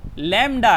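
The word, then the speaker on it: lambda: This is pronounce as लैम्डा।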